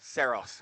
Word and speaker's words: SOS: SOS. All right. So, the T silent SOS to respond to Belmont's goal from Murdoch. It's like the T in Mitchell.